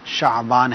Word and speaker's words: شعبان: اور اپنے نام جو ہے شعبان، مجھے ایسا محسوس ہوا کہ غالباً آپ نے کہا، صحیح تلفظ جو ہے اس کا شعبان ہے، شین پر زبر ہے.